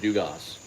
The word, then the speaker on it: Dugas: Justin day is Gavin Dugas officially back he Homer tonight no he's he pronounces it Dugas he pronounces the S yeah um Thomas LaMotta